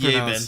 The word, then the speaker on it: Yeabin: Romanized is Yeabin. So Yavin? There's an A in there. Yeah. Yavin? Yabin. The Battle of Yavin? But it's still pronounced Yabin.